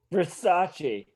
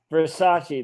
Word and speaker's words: Versace: turns back to her versace he pronounces it correctly what versace that's how it's pronounced oh you got great